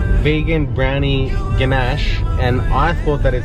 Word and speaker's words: ganache: Ganake. It was Ganache. Okay, so this morning what happened was there was a vegan cake. It was called vegan brownie ganache and I thought that it said vegan, what is it?